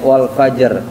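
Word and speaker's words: والفجر: Jadi prinsip kita berhenti itu berhenti di akhir huruf kayak wal fajr. Jangan dibaca wal fajr doang. Kan banyak yang kedengarnya walaj wal wayalin as wal fajrin asar kan di ro ujungnya. Nah kayak gitu.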